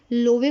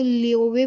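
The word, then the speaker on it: Löwe: तो जैसे ये लोवे पढ़ने की बजाय इसको लियोवे पढ़ेंगे, क्योंकि ये इसके ऊपर जो है वो अमलाउट आ रहा है।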